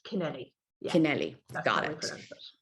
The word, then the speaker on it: Kennelly: Is it Kennelly? Kennelly. Kennelly. Kennelly. Yes. Kennelly. There's different pronunciations all across the island. So absolutely, you're dead right. In Cork, everyone says Keneally because there's an A at the end.